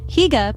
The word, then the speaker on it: Hygge: Hygge, pronounced Hygge, is a quintessential Danish term, so ingrained in their culture it is almost impossible to translate into a single English word.